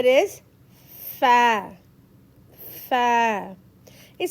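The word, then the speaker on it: ف: Fa is light, soft letters and we have to pronounce the same way we pronounce apple. Fa.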